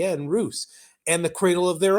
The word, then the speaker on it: Rus: the lands of the Roose the word Roose derives from the old East Slavic word and I'm G to spell it for you p y CB that's cilic which which reads as Roose when you convert from